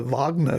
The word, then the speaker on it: Wagner: Also, obviously, his group's called the Wagner group, and I'm saying that as a German pronunciation. The obviously there's going to be some sort of Russian pronunciation of the Wagner group as well, which I will have messed up there.